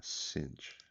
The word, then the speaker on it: cinch: A cinch. Le parole con la C che si pronunciano S.